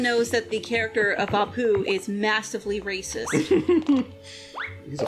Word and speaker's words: Apu: Seriously, though, how does Abu feel about all the snakes being whacked? Abu? Apu.